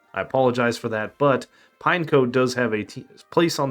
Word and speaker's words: Pineco: I was a kid I mispronounced this thing's name I called it Pino so you may hear me slip up and call it Pino again I apologize for that but pineco does have a place